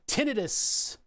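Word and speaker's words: tinnitus: not what it is it's not an itis you can't catch it tinitus is what it should be called and pronounced tinitus not itis um so anyway my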